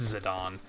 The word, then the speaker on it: Zidane: like, "What the fuck do you mean it's pronounced Zidane?"